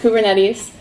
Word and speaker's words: Kubernetes: out of the way at the beginning it's pronounced kubernetes the CLI that we're going to use to